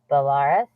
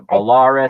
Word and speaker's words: Belarus: How do you pronounce this? Belarus? There you go. You got that right, Samantha. Belarus.